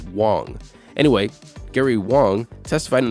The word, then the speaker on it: Wang: FTX co-founder Gary Wang, now those are two different ones if you're not understanding the pronunciation. One is Huang and one is Wang.